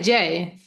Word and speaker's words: Jay: Uh, you just say Jay.